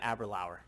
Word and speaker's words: Aberlour: It's kind of like, who was talking about Aberlour? And Lynn, you were correcting Gil on his pronunciation of Aberlour.